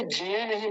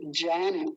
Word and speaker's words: ज्ञान: बड़ा ध्यान से समझिए, नहीं तो बहुत सारे आर्य समाजी यज्ञ बोलते हैं, यज्ञ, ज्ञान, ज्ञान, ज्ञान बोलते हैं, ज्ञान, ज्ञान नहीं, ज्ञान, ज्ञान, य। य का उच्चारण जब तक नहीं आएगा ना, तब तक भी गलत है।